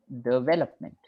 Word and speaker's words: development: a marathon of development remember the pronunciation development development development yeah so the first syllable is Du and after that we